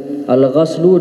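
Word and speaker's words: غَسل: Al-ghaslu dengan membacanya dengan fathah, ismun li ghasli ba'dil a'dha, yaitu suatu nama untuk basuhan sebagian anggota badan.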